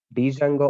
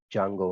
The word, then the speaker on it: Django: completely maintained by dsf1 dijango also pronounced it as jungle only sir not Django D is silent also pronounce it as